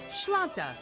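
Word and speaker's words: sláinte: a gaelic word you have to learn it's pronounced shlanta which roughly translates to cheers here's a tip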